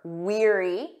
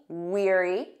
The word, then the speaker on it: weary: them side by side remember weary repeat after me weary tired or exhausted wary repeat after me